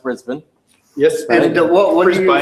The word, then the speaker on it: Brisbane: right and you're the reason I know it's pronounced Brisbane yes what are you buy anything is any about Americans watching risa by st.